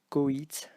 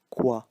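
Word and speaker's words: coït: So this is pronounced coit and not quoi, and here the T is not silent.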